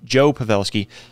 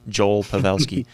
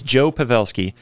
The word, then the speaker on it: Joe Pavelski: uh to Joel sorry Joe pavelski for some reason when I say his name my my tongue wants to add an L on the end Joel Pavel it's Joe pavelski he ends up announcing